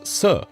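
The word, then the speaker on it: 死: In Mandarin Chinese, the word for the number 4 is se. The word for the concept of dead or death is almost identically pronounced as se, and so it's very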